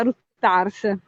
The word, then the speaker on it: Ruttars: Quindi Ruttars, si pronuncia Ruttars.